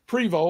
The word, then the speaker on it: Prevo: so excellent excellent all right well uh privo am I pronouncing that properly you are okay uh author